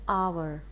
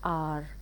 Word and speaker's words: our: For example, our is our, it's not R. If you say R, that would be HOUR.